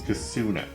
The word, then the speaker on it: Kosuna: It's Cassuna. Oh, yeah. Cassuna. Yeah, you're getting the name wrong there.